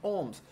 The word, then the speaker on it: ohm: uma resistência de quatro olha agora como é que pronuncia isso pessoal tá bom quatro homens beleza tranquilo essa é a unidade que representa a resistência elétrica nós dizemos em ohms mas se você olhar